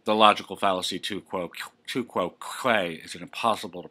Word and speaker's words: tu quoque: hear will be the logical fallacy to quo two quo Quay is it impossible to pronounce two quo Quay two quo Quay is